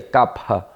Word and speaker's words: Kapha: Aportuguesando normalmente se chama de Kapha ou Kapha, tá? Mas a pronúncia correta dentro do sânscrito seria Kapha, né?